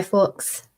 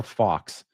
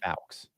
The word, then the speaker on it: Fawkes: Yeah, it sounds like you're saying fox. Fawkes. Fawkes. I mean, I don't know. I say Guy Fawkes. Whether Fawkes is kind of, I mean, that's how it's spelled.